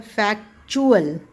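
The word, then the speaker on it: factual: मैं कहूं अ एक्चुअली जब इसके लास्ट में यू ए एल आता है उस टाइम पे ये टी जो है वो च की तरह प्रोनाउंस होता है जैसे कि फैक्ट फैक्ट but when you ड टी यू ए एल एट द एंड तो फैक्ट बन जाता है फैक चुअल य च की साउंड आने लग जाती है सो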